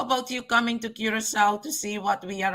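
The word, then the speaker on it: Curaçao: when you see that, then you have to pronounce that C as an S. Curacao.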